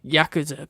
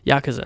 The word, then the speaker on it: Yakuza: Yakuza, not Yakuza, which I constantly kept saying, but that is neither here nor there.